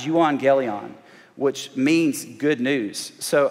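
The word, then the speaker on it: εὐαγγέλιον: The word is an English translation for a Greek word that is pronounced euangelion, which means good news.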